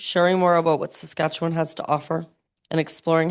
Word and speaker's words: Saskatchewan: Vocês esquecem a T como uma G e é Saskatchewan.